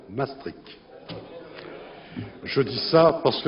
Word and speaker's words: Maastricht: Et quant à la prononciation, tous les experts s'accordent pour considérer que ce doit être Maastricht.